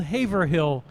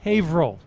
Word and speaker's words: Haverhill: just north of Boston it's print it's spelled Haverhill but pronounced Haverhill don't even try it with siri it won't